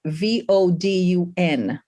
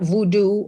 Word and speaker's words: vodun: pronunciations are important right so it's vodun it's not voodoo or vodou or any of that um so